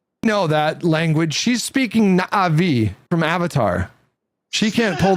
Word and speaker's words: Na'vi: You gotta say it like Na'vi.